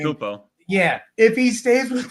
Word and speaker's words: Antetokounmpo: You know, I'm not going to do Giannis, Anton, how he pronounces his last name. Antetokounmpo.